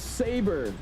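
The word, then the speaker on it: SABRE: Oh, it's Saber. Saber, okay. American English, good lord. I'm over here pronouncing stuff I've never heard of in my life, and I'm supposed to instantly pronounce it right.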